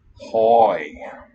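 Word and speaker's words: οἱ: Oi, how do you say it? hoi. That's a diphthong with a long O.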